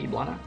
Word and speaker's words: Eblana: you say your name eblana I say you say the name of eblana right or iblana iblana yeah like that my bad [ __